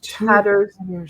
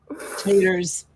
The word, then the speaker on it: Tatters: Tatters as in torn apart. The E is silent on the end. And tatters is not country word for potatoes. Taters.